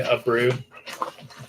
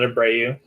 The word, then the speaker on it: Abreu: and it's pronounced Ryan Abreu, not Abreu.